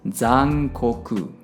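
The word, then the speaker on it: 残酷: The next one is Ku, and pronounced as ku. And put everything together, and it's gonna sound as zankoku.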